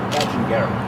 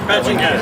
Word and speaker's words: Badgingarra: Just remember, it's pronounced Badgingarra. Badgingarra, yes.